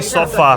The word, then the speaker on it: sofá: Como é que os lisboetas dizem sofá? Sofá. Há os que dizem sófá. Não. Oh Célia! Como é que um lisboeta diz sofá?